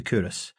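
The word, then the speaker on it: Culross: We'll set out on our journey across Scotland in the small town of Coorous, Fife. My introduction to Coorous, which I've since learned to pronounce Coorous, was on a particularly cold, dreich day.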